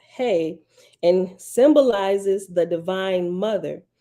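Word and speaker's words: ה: okay oh that second letter is hey pronounced hey and symbolizes the Divine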